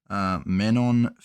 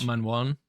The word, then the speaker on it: Manon Fiorot: I think it's pronounced Manon like Fiorot. Manwan.